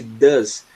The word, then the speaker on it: does: Porque nesse caso, ó, desse does, a gente pronuncia como se fosse um A bem fechado, né?